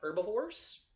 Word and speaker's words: herbivore: we can talk about herbivores carnivores or omnivores now an herbivore and note the spelling h.e.r.b.i.e o ar e the H is silent it is herb not